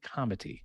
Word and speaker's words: comity: So second category is what we're calling divine comity. Now I'm pronouncing that with a soft T because it's comity with a T, as in getting along, as in playing well with others.